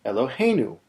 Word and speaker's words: Eloheinu: it from Elohei to Eloheinu? Here's what that looks like. We've gone from Elohei to Eloheinu. The go syllable is still hey, but now it's not the final syllable anymore.